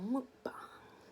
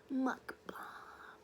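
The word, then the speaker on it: 먹방: this mukbang you know in Korea they go mukbang or something mukbang and but us Americans we go mukb because we're Americans we always got to pronounce things the wrong way I'm sorry there's a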